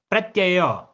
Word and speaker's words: प्रत्यय: से सुनना आभाव है प्रत्यय डबल या है ठीक है जो यहां पर आपका य है ना यह डबल है आपके दो बार है इस चीज को ध्यान से प्रोनाउंस कीजिएगा आभाव प्रत्यय आलंबन वृति